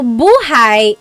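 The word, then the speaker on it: buhay: depending on its context so buhai is life if you say buhi the emphasis is on the second syllable Bhai that means alive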